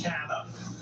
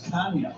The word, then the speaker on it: Canha: She said, it's Canna. It's always been Canna. It's never going to be anything but Canna. Well, the Portuguese pronunciation of Canna is Canha. Right, but that was Canha. But as Mark described, that was 4 generations ago. But he's an American. He's Canna.